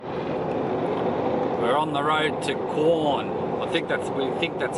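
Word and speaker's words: Quorn: We're on the road to Corn. We think that's how you pronounce it. Is that right? That's how we say it. Corn. How do you spell it? Q-U-O-R-N. There you go. Corn.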